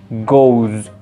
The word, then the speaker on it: goes: Go también tiene su pronunciación específica, que en lugar de ser goes, perdón, en lugar de ser goes, vamos a pronunciarlo como si tuviera una Z al final y el verbo va a ser exactamente igual, go.